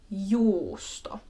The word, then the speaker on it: juusto: On the other hand, two U's is pronounced like justo. So just imagine you're pausing in the middle of the two U's, kind of resting a little bit there, and then continuing on with the word.